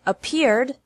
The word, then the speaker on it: appeared: has two syllables and appeared also has two syllables don't pronounce it a